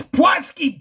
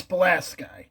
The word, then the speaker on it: Pulaski: at his screen, it's Pulaski, dupa! That's just, I can assure you, you ask anyone from Pulaski how they pronounce it, they say it's Pulaski.